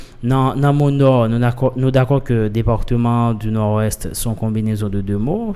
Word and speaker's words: Nord-Ouest: termine par consonne RT rsrd dernière consonne pas prononcer c'est-à-dire non d'accord que département du Nord-Ouest sont combinaison de deux mots c'est le nom